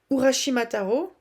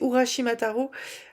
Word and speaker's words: Urashimataro: que le fait pour Urashimataro ou Shimara. Non, j'ai plus j'ai pu il y a trop de syllabes. Euh je crois que c'est Urashimataro. Le euh la tortue va